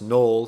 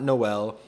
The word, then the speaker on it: Noel: That's pronounced Null, not Noel.